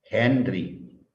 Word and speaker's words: Henry: Eso es una bobina y se señala con la letra L y su medida es el Henry. Henry se lee así, pero se escribe con H.